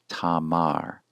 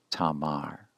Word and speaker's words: Tamar: The first syllable then is ta, the second syllable begins ma, and concludes with the consonant in position 5, the R consonant, producing the name tamar, tamar.